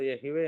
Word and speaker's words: Yahweh: டெட்ராக் commission மூலியமாக வந்தது நம்ம பார்த்தோம் இல்லைங்களா சோ ஹீப்ரு பைபிள்ல பல ஆய்வாளர்கள் இதை எகவே என்று உச்சரித்திருக்கலாம் என்று சொல்றாங்க 10 கமெண்ட்மென்ட்ஸ்ல மூன்றாவது கட்டளை